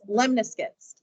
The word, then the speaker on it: lemniscate: Last shape today is what's called a lemniscate. And I know that doesn't look like that's how it's pronounced.